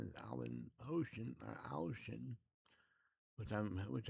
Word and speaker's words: Ouschan: his name is Alvin Ocean or Ocean, which I'm which I hear is how you're supposed to pronounce it. Ocean. Everyone says Ocean, so I'll say Ocean.